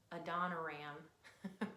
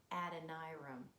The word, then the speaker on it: Adoniram: said his name wrong I used to call him a Dona Ram but his name is Adonai room and that isn't that's